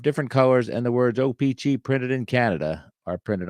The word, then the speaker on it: O-Pee-Chee: printed on the back I say op I know there's some people that say OPI uh or opj I don't know that sounded weird but I stress every uh syllable equally OPG you know me let's